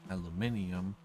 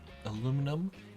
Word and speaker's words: aluminium: more rare aluminum or aluminium. Supposed to say that. Don't worry, aluminum and aluminium are both correct.